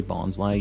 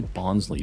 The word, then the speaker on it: bonsai: need a bonsai though I didn't used to say Bonsai used to say bonsley because that's how it spawned or that's hot that's how it's spelled foreign but um bonds lies somebody was saying it's like Bonsai like a bonsai tree and it just made